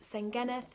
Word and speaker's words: Senghennydd: at cardiff university called saingenith hall it is quite difficult to pronounce at first i was like didn't know how to pronounce it but then my welsh flatmates told me it's pronounced saint geneth so this is a